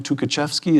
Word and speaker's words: Tukhachevsky: We have, who's the general, Tukhachevsky, is that how it's Yes, pronounced?